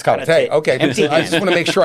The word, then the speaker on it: karate: And so you do both Taekwondo and Japanese karate.